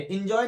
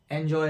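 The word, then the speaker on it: enjoy: ऐसे ही हो गया एंजॉय, यहां भी ए का साउंड है, ये इंजॉय नहीं है, एंजॉय है।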